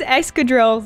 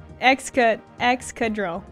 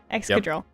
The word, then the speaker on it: Excadrill: Why is Excadrill looking like you those? You still said it wrong. Excadrill. Excadrill. Yep.